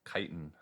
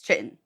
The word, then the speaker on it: Kytin: How to pronounce kiten. Okay, we just got two different answers here. So, wow. Yeah, the British pronunciation is correct. Kiten. The American pronunciation is wrong and it's Chittin.